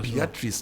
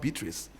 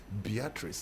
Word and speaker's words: Beatrice: Beatrice, not Beatrice. Beatrice. That's how she pronounced.